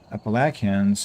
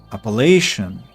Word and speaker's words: Appalachian: Google says Appalachian. Ah, it's British pronunciation. And American Appalachin. Appalachian. See this is American. Appalachin. And this is And this is British. Appalachian. Appalachian. like like appellation like court of appeal court of appellation.